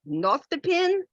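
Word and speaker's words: nostepinne: name oh and this I'm not quite sure how it's pronounced it's spelled n-o-s-t-e-p-i-n-n-e and I think it's pronounced not the pin where you can make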